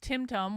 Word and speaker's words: timtum: go in and see timtum pronounced timtum was a short to rhyme with Rim rum from Hebrew uh BL